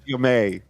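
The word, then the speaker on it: Ja'mie: Spelled Jamie, pronounced Jamie.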